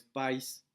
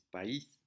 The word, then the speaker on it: país: pronuncia esa palabra Entonces por ejemplo país entonces no es país es país Entonces aunque la hay